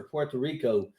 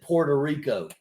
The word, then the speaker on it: Puerto Rico: tell you I have so much respect for Puerto Rico I grew up in southern West vir Virginia to be honest with you we pronounced it Puerto Rico like p o r ta and and I